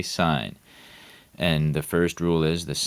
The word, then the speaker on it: sine: always going to say sine, cosine, and tangent. Okay, so even though it might be written S-I-N and in some context pronounced sin, we're going to say sine.